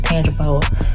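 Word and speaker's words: Tangipahoa: to pronounce the uh parish is tang pooa tang pooa perish wrapped in a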